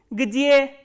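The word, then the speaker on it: где: And the third interrogative word is g, d, ye, and please remember ye is a soft vowel and it comes after a soft consonant. So, how will you pronounce this? Gdje.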